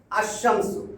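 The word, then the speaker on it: الشمس: আল আল যোগ করব আলশামসু পড়া যায় আশামসু আশামসু দেখেন পার্থক্য এই 14টা হরফে আলিফ লাম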